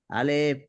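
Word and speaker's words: ألف: শোনান আলিফ না হলো না তো এটা তো কোন টান নাই এটা তো এই অক্ষরটা আবার বলেন আলিফ এটা আবার বলেন শুরু থেকে এটা লম্বা করলেন আলিফ না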